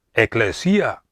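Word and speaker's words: ἐκκλησία: palabra iglesia viene de la palabra griega que se pronuncia eclesia en las escrituras de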